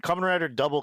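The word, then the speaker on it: Kamen Rider W: way they have double they'll use a w and then they'll pronounce that as double so then a lot when Kamen Rider Double came out of first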